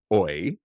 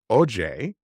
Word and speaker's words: Oye: And so I was like, I don't want to say way off, but let me say the book is not Oi. The book is Oye, and Uh-huh.